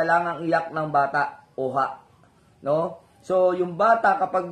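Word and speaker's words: Ojah: yan So yung pangalang Oha ay matatagpuan sa bibliya din kaya lang ang letra niya ay o j a h o o ha So parang parang ha yung pronunciation doon yung tunog ha Parang dinugtong yung o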